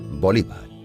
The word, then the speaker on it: Bolívar: bolívar murió de tuberculosis en algunos países europeos su apellido se acentúa en la segunda sílaba bolívar en el año 1820